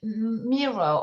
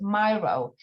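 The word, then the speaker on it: Miro: a digital digital format on um mirror or some pronounce it myro you can ask um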